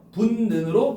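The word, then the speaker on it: 붓는: 왜 바꿨죠? 비음화. 그래서 분는으로 발음해야겠군.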